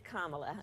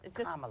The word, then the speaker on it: Kamala: It's Kamala. Kamala. Yeah, just think of like a comma and add a la.